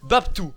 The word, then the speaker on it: BapTo: B-A-P-T-O, ça se prononce Babtou.